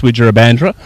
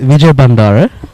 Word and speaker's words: Wijurabandara: on there from Sasith Wijurabandra. Nuwan, early thoughts on the game so far? Well, first of all, you pronounce his name atrociously there. It is Sasith Wijurabandara, okay?